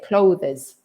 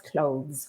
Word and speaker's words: clothes: like close the door but the clothes finishes with its sound and clothes finishes with a z sound the the voiced sound but it's a tricky word yes it is and it's just one syllable because many spanish people try to say clothes but no it's clothes one syllable okay but everybody likes